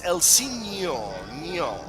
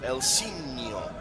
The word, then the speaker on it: Elsinho: It's Elsinho. The NHO is pronounced like Ronaldinho. So Elsinho.